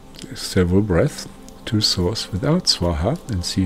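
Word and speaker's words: svāhā: Now, when this love goes back to source from your side, think Swaha. like swan and ha ha, swan and ha ha, like swaha, swaha.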